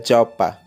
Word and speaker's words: Dropa: Enfim, conta-se a história de um povo chamado Dropa, que no dialeto da região se pronuncia Jopa, que eram viajantes de um planeta distante.